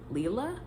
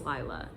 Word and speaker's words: Lila: in the first audiobook I'm pretty sure her name is pronounced as Leela and apparently it's Lila personally I liked Lila